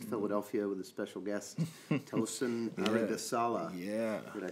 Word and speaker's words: Tosin Aribisala: We are here in the Ropeadope Room in East Philadelphia with a special guest, Tosin Aribisala.